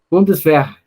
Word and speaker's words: Bundeswehr: Bundeswehr. Assembleia Nacional? Bundeswehrung. Pronto, gente, pronto. Agora vocês já estão sabendo a pronúncia correta.